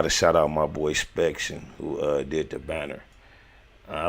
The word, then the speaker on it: Spectian: And when I say Spection on IG, his name is spelled SPECTIAN ARTS, Spection Arts.